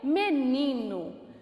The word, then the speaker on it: menino: Qual foi a sílaba que eu mais me prolonguei? O ni. Então, o ni é a sílaba tônica daquela palavra.